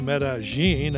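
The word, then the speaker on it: Medellín: go on vacation but that was passed today metagine as the locals pronounce it is transformed while Colombia is still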